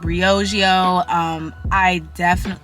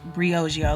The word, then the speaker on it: Briogeo: I was saying the name wrong the whole video, but Briogeo, Briogeo, let me make sure I'm saying it right, Chad.